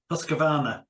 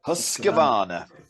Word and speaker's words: Husqvarna: And I was looking to see what brand they were, and I can't even pronounce it. I think it's Husqvarna. Husqvarna, yeah. Husqvarna.